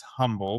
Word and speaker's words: Humble: So Ray, he mentioned Humble. So the H is silent. So it's spelled as humble, but it's pronounced Humble for those That's that are right.